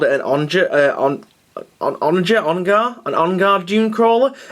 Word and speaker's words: Onager: Well, I have got an Onager Dune Crawler. That is the correct pronunciation of it as well. I thought it was Ongar, but no, it's Onager Dune Crawler.